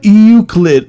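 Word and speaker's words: Euclid: Oh, Uklid. Yeah, I'm so bad at pronunciating things, guys.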